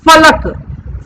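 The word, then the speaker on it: फ़लक: ठीक है, फलक, इसमें ऊपर के दांत और नीचे के होठ मिलेंगे तब इस फ का उच्चारण होगा, फलक, फलक।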